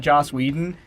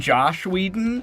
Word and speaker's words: Joss Whedon: you were talking about Joss Whedon and you actually pronounced his name right normally you call him Josh Whedon yeah and I was